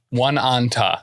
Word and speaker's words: Oneonta: In Oneonta is spelled Oneonta. One Anta.